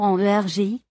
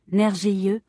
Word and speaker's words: Nergi: Prononcer le nom en Egi. Oui, c'est bien ça. Énergie. Je gage que le personnel des supermarchés ne le saura pas et que vous risquez d'entendre quelque chose comme nergieux ou nerg.